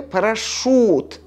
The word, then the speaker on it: парашют: произносим у брошюра и в слове парашют после ше пишем you a произносим у жюри брошюра парашют это